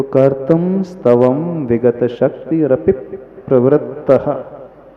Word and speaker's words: कर्तुं: भक्ति की सिद्धि, माइक से बोलना, हाँ, कि दूसरी वाली नहीं, अच्छा, कर तुम वाली, कर्तुम स्तवम विगत शक्ति रपि प्रवृत्तः। अब कर्तुम की जगह कई भक्तामर में आपको कर्तुन भी पाठ मिलेगा उच्चारण में, कर्तुन स्तव, वो